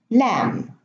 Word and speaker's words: lamb: So in these words, the B is not pronounced. I'm going to read them again. Thumb, bomb, climb, comb, tomb, lamb, limb, womb, debt, plumber, plumbing.